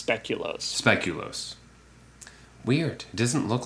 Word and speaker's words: speculoos: According to Google, it's speculoos.